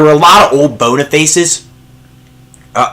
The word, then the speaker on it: Boniface: a lot of old Bona faces uh I actually realized that Boniface is actually bonaface is actually how you pronounce it not Boniface but I'm just gonna